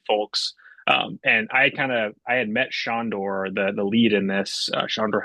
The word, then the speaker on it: Sandor: Dominguez, and then we've got, is that Sandor Helderman? Yeah, Shondor, yeah, Sandor. is how it's pronounced.